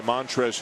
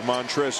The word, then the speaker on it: Montrezl: The L at the end of Montrez is silent.